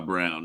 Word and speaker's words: Braun: He needs to it's spelt Braun, and he's just gonna keep going by Brown, and they need to change the name of that too.